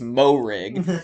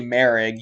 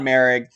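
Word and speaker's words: Moehrig: m-o-e-h-r-i-g i think it's mo rig but it's actually merig you don't even pronounce the h in it so travon merrig is going with number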